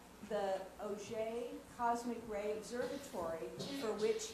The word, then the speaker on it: Auger: So this is not pronounced Auger, it's pronounced Auger. It's a French word, a French name.